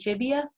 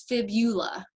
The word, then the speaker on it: fibula: call that tibia and fibia um but notice it's not phibia it's fibula so remember that that's really important when it comes to spelling and pronunciation of those words it's tibia and fibula and then we get